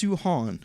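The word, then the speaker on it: Samhain: i think um oh and vincent says it's pronounced suhan okay i'll take your word for it i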